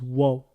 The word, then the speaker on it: و: Alors, quand il est en lettres, il se prononce waw, comme le W en français.